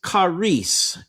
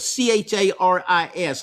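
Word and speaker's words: χάρις: Um but the Greek word that Paul used is charis, and we would in English in our English letters we would spell it c h a r i s, charis.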